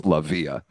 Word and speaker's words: Lavia: Either Tommy or Monty said the accent was on the second syllable, so it's Lavia. Lavia.